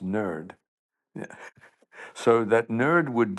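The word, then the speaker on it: NIRD: Institute for Repurposing Drugs NID pronounced nerd.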